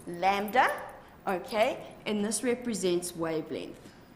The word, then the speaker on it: lambda: simple it looks like an upside-down why it's pronounced lambda okay and this represents wavelength now your wavelength